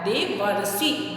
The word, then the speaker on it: देवर्षि: इसका प्रोनाउंसिएशन कैसे होता है? देवर्षि, वर्षि, तो अर आ जाता है। अ वर्ण के बाद री आए तो उसके स्थान पे अर हो जाता है।